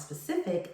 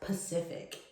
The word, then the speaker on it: specific: The proper word to use is always specific, so make sure you pronounce all of the letters in specific.